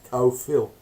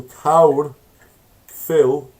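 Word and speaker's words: carw: of the old man the Welsh word for stag it's cow Phil so cold Phil and it's almost phonetically the same as Kaya Philly so this is just a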